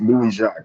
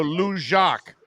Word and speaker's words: Louis-Jacques: No, it's Louis-Jacques. It's Haitian, actually. So I think a lot of people down in Miami will, will recognize it a bit. All right, so Louis-Jacques is the way we say it, right?